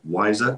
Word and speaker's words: WISER: climate information services of africa which is easily pronounced as wiser program john is a meteorologist by profession having